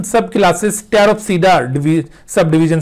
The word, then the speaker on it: Pteropsida: इसमें P silent होगा, टेरोप्सीडा। तो ये चौथी सब डिवीजन है, यानी ट्रैक्योफाइटा को 4 सब डिविजन्स में डिवाइड किया है।